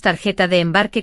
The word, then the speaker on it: tarjeta de embarque: Y pronunciamos tarjeta de embarque con la J fuerte, ¿eh?